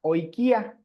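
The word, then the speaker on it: οἰκία: Luego, un sexto diptongo es la unión de la omicron con la iota. Ahí se formaría el diptongo hoy. Hoy, aquí está cómo se pronuncia, y lo encontramos en la palabra oikia.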